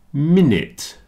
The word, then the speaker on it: minute: chocolate comfortable vegetables chocolate minute rhymes with in it it's the only thing I could find to rhyme with minute so here's a man repairing a clock and he is very small and he is in it changing the minute minute in it since rhymes with